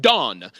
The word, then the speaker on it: Dan: His name is pronounced Don.